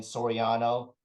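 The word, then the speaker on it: Soriano: the letter j and then Sorano kind of like The Sopranos but the soprano TV show but it's Sorano with an i um and minus the P you'll and collection you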